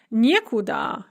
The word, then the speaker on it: некуда: We have не instead of ни, and the stress is on the не. So we have нигде, which means nowhere when indicating location, некуда, nowhere indicating direction, никогда, never or no time, and ничего, nothing.